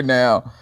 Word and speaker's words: Gnaw: yeah so we're here now um i got no of course you know the shark decon no um good no no don't pronounce the g please but yeah we got